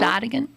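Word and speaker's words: Onegin: a h an opera of Eugene is it Onan Anan Anan it's pronounced anigan uh anigan aagan Susan Eugene anigan anigan aagan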